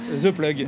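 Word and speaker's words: Zeplug: The plug the club ça s'écrit Z E P L U G.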